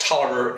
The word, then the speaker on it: Taliaferro: Had a last name that was spelled Taliaferro. Why that is pronounced Tolliver escapes me, but by golly, I learned.